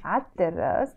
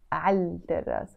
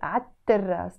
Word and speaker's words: عالتراس: عالتراس, written as عالتراس, but pronounced as عالتراس because the T is a sun letter. So we don't say عالتراس. We have to pronounce it as عالتراس, double T.